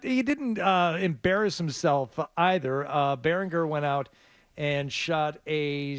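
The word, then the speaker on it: Baringer: I think we decided it was Beringer. I think the hard G.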